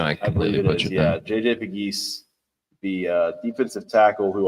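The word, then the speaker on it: Pegues: I completely JJ Piggee, the uh defensive tackle who also had seven rushing touchdowns last year for Old Miss as Oh, yeah.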